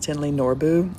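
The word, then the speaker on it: Thinley Norbu: by Tinley Noru and it looks like it's spelled like thin like fat or skinny thick or thin thinly but it's pronounced Tinley Norbu and then the other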